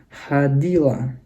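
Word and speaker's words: ходило: Feminin, ana, hadila. Netral, hadila juga, cuma perhatikan huruf O yang di sini tidak ada penekanan, makanya dibacanya jadi A, tapi ditulisnya hodilo, dibacanya hadila.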